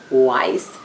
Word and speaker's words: Weiss: is uh-huh yeah Weiss like nice and despite the fact